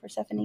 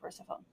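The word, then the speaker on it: Persephone: Praphanie. Oh, Pphanie. Thank you. I always want to call her Persafhone because that's how it's spelled.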